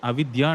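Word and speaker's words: avidyā: not spelt out but you have to be conscious that what you are saying within is avidya not vidya so this happens in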